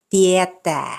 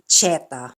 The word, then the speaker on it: tietää: T-I and T-Y combinations are not pronounced as CH. So it's työtä, not chota. Tietää, not cheta.